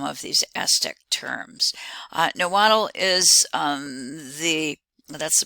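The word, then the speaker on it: Nahuatl: look at some of these aztec terms uh niwal is the that's the pronunciation for the language of the aztecs it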